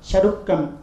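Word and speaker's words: சருக்கம்: The same is pronounced as Charukam in Tamil literature.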